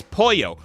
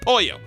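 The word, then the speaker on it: pollo: in your polo burritos we're like Roy its poyo we've told you a billion time it spoiled that's how you pronounce it it's Paul yo and he goes well I'm like it's chicken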